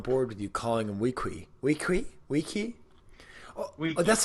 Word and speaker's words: Weequay: Well, if you Quuay is pronounced key. So wouldn't that be Weequay then?